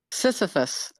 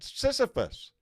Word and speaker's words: Sisyphus: Sisyphus. What? Sisyphus. Well, what? Yep. Yes. Well, that's what I was saying. Most people say sissy, not sissa.